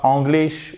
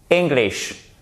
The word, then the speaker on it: English: Et pas English ou English. Non. English. Report. Accent tonique sur la seconde syllabe.